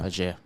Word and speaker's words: Ajer: I couldn't say to you with certainty, if you said to me, that back three, Zanka, Ajer, Collins, who definitely plays?